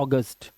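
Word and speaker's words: August: एयू का नियम कहता है जब किसी शब्द में एयू दिया हो। बहुत सारे वर्ड्स मिलते हैं। तो इसका उच्चारण क्या हो जाएगा? अ हो जाएगा। जैसे एक एग्जांपल मैं देता हूं आपको यहां नहीं लिखा हुआ। देखिए हमारा जो एक महीना होता है ए यू जी यू एस टी तो इसे हम क्या पढ़ते हैं? अगस्त क्या पढ़ते हैं? अगस्त। तो ओ की आवाज आती है।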